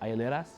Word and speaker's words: hieleras: Hieleras?